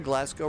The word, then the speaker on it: Glasgow: Glasgow. Not Glasgow. Not Glass. It's Glasgow. Okay.